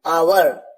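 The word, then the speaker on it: hour: और ऐसा भी कहा जाता है कि एच एक साइलेंट है, इसी वजह से भी आवर की ध्वनि आती है, आवर।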